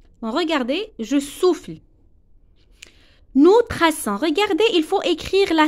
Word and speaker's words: traçons: Nous traçons. Regardez, il faut écrire la cédille. Si on n'écrit pas la cédille, ça va prononcer nous traquons.